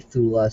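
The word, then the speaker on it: Thule: Hitler was manipulated and co-opted by the Thu Society or some people call it the Thula Society, however you want to pronounce that, T H U L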